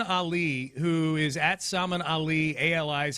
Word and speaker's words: Ali: Um, Salman Ali, who is Salmon Ali, Ali is how he pronounces his last name.